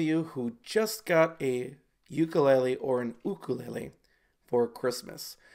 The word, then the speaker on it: ukulele: is commonly called the ukulele, and in fact, if you call it anything else than that, people are going to get confused. But the actual pronunciation, if you go to Hawaii, is ukulele.